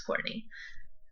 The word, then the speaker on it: Kourtnea: Z underscore age but my name is spelled kou RT and ei so that's Courtney um are you on